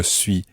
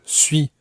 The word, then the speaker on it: suis: Suis is spelt S-U-I-S. French has many letters which end up silent in some situations, and S's at the end of words are very often silent. However, when they're followed by other words which begin with vowels, then you sometimes pronounce the S.